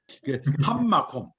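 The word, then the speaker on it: הַמָּקוֹם: 그럼 발음은 어떻게 하냐면 어떻게 보세요. 함마콤.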